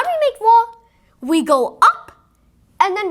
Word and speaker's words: ظ: But for va, we pronounce it very thick and high and take out lots of air. Va.